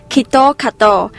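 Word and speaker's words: キットカット: that's not the case in japanese kitkat is pronounced as kito kato and it has a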